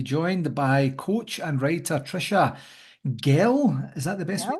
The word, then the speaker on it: Tricia Gehl: delighted to be joined by coach and writer Trisha Gil is that the best way to pronounce it I nailed it nailed it you're